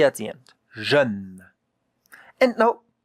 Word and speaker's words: jeune: If we have a consonant and an E at the end, most of the time, you don't hear the E.